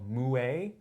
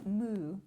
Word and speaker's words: moue: word this week called moue. Oh, no, it's moo. Moo. Like a cow. Like it's the sound of it. But it's spelled M-O-U-E, but it's moo.